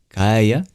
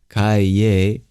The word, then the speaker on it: Kaya: The ending of Kali, Kaya, which you might hear in the speaker pronounced more like Kaye, doesn't matter too much, means to Kali.